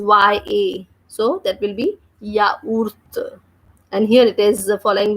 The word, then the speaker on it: yaourt: For example, yogurt is called yaourt in French, and the spelling is Y-A. So that will be yaourt.